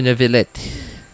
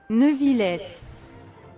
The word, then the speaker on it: Neuvillette: Neuvillette. Neuvillette. Neuvillette. Okay, I guess I was kind of pronouncing it, well, correctly, but like very Western and not French at all.